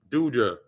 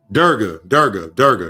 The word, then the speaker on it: Durga: It's Durja. Fuck. I can't remember the goddamn name. And that goddess just came through to me. I don't want to say her name wrong. Durga.